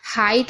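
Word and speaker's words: height: एचटी तीनों साथ में है तो जी एच साइलेंट रहता है तो यह देखिए हाइट हो गया ना सिंपल सा एच को पढ़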